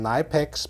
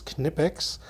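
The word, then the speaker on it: Knipex: it from German company kinetics or you might pronounce them my pecs but in fact the German pronunciation is kinetics let's first of all take a look at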